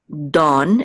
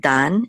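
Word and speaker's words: דָּן: it's y so and this is Don instead of Dan it's Don almost like da right um okay so like the rising of the Dawn or something like that Dawn uh this is so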